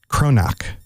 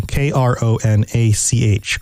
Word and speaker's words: Kronach: a small bavarian town kronac and maybe i'm pronouncing that wrong k-r-o-n-a-c-h kronach i think kronac is probably right and he made him